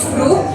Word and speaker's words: brug: Dan fakta menariknya sebenarnya dulu disebut dalam bahasa Belanda yaitu brug, atau artinya jembatan. Namun karena ada pelafalan yang kurang sempurna dari kata Belanda brug ini, sekarang disebutnya menjadi berok, atau lebih familiarnya jembatan Berok begitu.